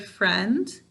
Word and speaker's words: friend: saying its name but when we say the word friend do we hear this i sound you're right we don't so what are we